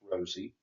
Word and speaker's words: Rosa: He introduced us to Ray and his wife Rosa, pronounced Rosie, and their son Ted.